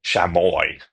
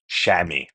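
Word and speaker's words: chamois: You tend to think shamoy if you were going to convert it right to English. So here we go. We got the s is gone. But the correct word is shammy.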